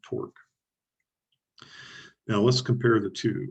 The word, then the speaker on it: torque: Now, the way you pronounce it is such that it rhymes with the word fork. So just think of fork when you're pronouncing torque.